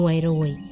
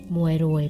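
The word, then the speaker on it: មួយរយ: เอง นะ คะ 100 จะ ออก เสียง ว่า มวย โรย มวย รวย แปล ว่า 100 นะ คะ ต่อ ไป นะ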